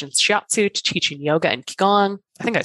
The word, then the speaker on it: Qigong: Tell me, and then we can talk about what Qigong. Is it Qigong?